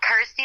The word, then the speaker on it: Kirsty: obviously it helps that it's you know rhymes with my name and helps people pronounce my name correctly so I'm like cool Kirsty like thirsty got ity like thirsty